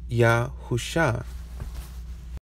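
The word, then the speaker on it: Yahusha: the five letter version which phonetically says Yahoo sha and in Yahoo shall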